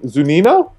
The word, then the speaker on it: Zunino: I mean, if you're looking for punt options tonight, Mike, I know I'm going to murder his last name, Zunino? Yeah. Mike Zunino, is that pronounced correctly?